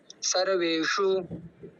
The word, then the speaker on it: सर्वेषु: वैसे ही श पड़ेगा, हमारी जुबान उसी स्थान पे पड़ेगी जहाँ पर ट ट ढ ढ की यानी कि हमारे जुबान का जो पॉइंट पड़ता है। तो ऐसे होगा अयनेषु सर्वेषु।